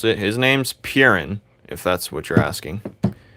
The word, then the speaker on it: Perun: Coolio, how do you pronounce it? His name's Purin, if that's what you're asking.